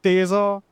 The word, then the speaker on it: Taisor: Well, you get something like this, the Toyota Urban Cruiser Taisor or Teaser or however you want to pronounce it. However, over the course of this review, I'll be referring to this as the Taisor.